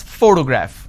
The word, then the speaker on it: photograph: so in this case this particular word has three syllables and i pronounce this as photograph which means i'm stressing on the first syllable but when i look